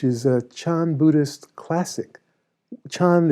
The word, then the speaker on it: Chan: a chan buddhist classic chan is the chinese pronunciation a sudden awakening which the japanese pronounce zen so i'm a zen